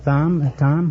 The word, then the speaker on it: Thom: Eh, uh, Miss uh, Thom. How you Tom? Tom. The H is silent. That's right. Like in Herring.